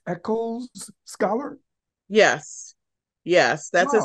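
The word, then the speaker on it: Echols: if I'm correct you were an is it pronounced echo's scholar yes yes that's a special scholarship program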